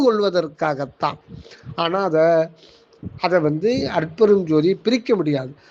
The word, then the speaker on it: அருட்பெருஞ்ஜோதி: ஆனா அத அதை வந்து அருட்பெருஞ்ஜோதியை பிரிக்க முடியாது அதனால அருள் பெருஞ்ஜோதி அப்படின்னு சொல்லக்கூடாது அருள் பெரும் ஜோதின்னு சொல்லிட்டா மூணு வார்த்தைகளா வந்து அப்படி சொல்லக்கூடாது அதை அண்டர்ஸ்டாண்டிங்க்காக நாம பெற்றுக்கொள்றோமே தவிர அதை உச்சரிக்கும் போது அருட்பெருஞ்ஜோதி அப்படின்னு தான் அதை உச்சரிக்கணும் அருட்பெருஞ்ஜோதி அருட்பெருஞ்ஜோதி தனிப்பெரும் கருணை